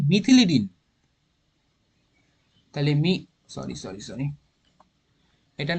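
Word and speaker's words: methylidene: উচ্চারণটা এটা হবে মিথিলিডিন।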